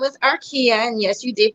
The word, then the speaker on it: Arkeah: about your journey hi everyone my name is arkia and yes you did pronounce it right i am the new faces